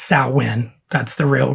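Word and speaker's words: Samhain: would put on stuff like the Misfits and Sam Hayne and he has the conversation with Kirk or James or Dave or whoever you know is in the band at the time um that uh it's pronounced sain that's the real pronunciation of it and I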